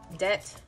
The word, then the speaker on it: debt: going to put is debt debt with a silent b yo did you guys